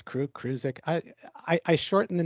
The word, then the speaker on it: Kurdziel: I'm doing pretty good, but my last name is pronounced Kurdziel. Kurdziel. You know, it's Kurdziel.